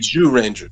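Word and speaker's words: Zyuranger: yeah that's pretty much it's more like jew ranger yeah it's not really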